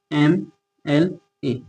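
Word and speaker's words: MLA: लेकिन इसका प्रोनंसिएशन क्या है? एम ए और म क्या है? एम यानी कि ए है। तो ए हमारा हिंदी वर्णमाला का स्वर है। यानी कि वोवेल है।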